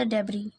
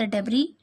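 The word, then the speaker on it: debris: बच्चों को, from the डेबरी, डेबरी कहते हैं मलबा, डेबरिस लिखा है लेकिन एस साइलेंट होता है।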